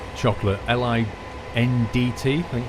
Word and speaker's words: Lindt: A lot of people like Lindt chocolate, L-I-N-D-T, I think it's spelled, Lindt.